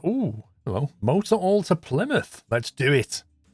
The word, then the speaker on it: Plymouth: well motor all to Plymouth let's do it that's how you pronounce it by the way Plymouth not fly mouth limit what's the easiest